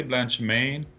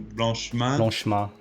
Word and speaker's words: Blanchemain: don't worry about it you can pronounce it either the english way blanche maine or if you want to do really french you do blanche man gotcha that's right yeah